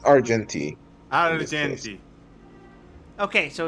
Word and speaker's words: Argenti: we go AR the question is are we pronouncing it like Argentina or Argentina it's arti arti okay so it's like argen arti is correct like Argentina Argentina land of silver